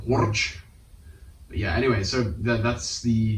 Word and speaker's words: Horch: I want to say his name in German, but Horch. I don't know. Just gotta roll the R. Horch.